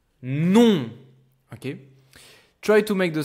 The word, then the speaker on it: non: By the way, this is how you say no in French. It's like if you write it with an N instead of an M. Non.